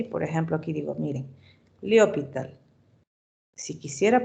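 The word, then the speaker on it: L'Hôpital: no, pero mejor este límite le hallo por L'Hopital.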